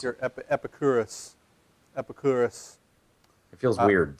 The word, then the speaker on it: Epicurus: his name epicurus or I always want to say Epicurious but it's just us at the end I don't know how to pronounce EP epicurus epicurus it feels weird saying